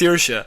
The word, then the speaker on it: Saoirse: Also, Saoirse Ronan is how you pronounce it. Just to get so that they have to say the name on stage. Saoirse.